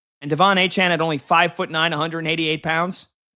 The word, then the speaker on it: Achane: Oh, it's Achane.